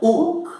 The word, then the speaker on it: huc: Mas o H não deve ser pronunciado. Nem aspirado, nem não aspirado, né? É uc. Veni. Uc veni. Eu sei que muitos têm a tendência de pronunciá-lo aspirado, mas não é assim. São somente duas palavras na língua latina que se aspira o H.